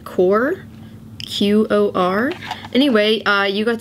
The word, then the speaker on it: Qor: i've never used before i think you pronounce it core qor anyway uh you